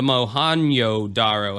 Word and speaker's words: Mohenjo-daro: topic that would be the mo Hangzhou daro or the mohenjo-daro however you want to say that J sometimes J is pronounced H sometimes it's a Y whatever or otherwise known as